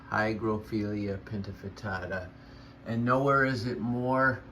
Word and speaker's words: Hygrophila pinnatifida: The least I could do was know its name, or at least how to pronounce it. Hygrophila Pinnatifida. Hygrophila Pinnatifida.